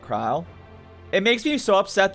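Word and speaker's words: Krile: Uh you wanted to find about your grandfather, right, Kryle? It makes me so upset that her name's pronounced Kryle and not Krill cuz I've been calling her Krill for so long.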